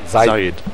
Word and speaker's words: Zaid: Okay, but now you pronounce his name Zaid. Zaid.